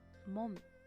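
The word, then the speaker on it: 門: You can read it as mon.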